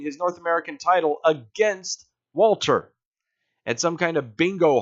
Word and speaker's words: Walter: They pronounce it like the German and Walter. Walter.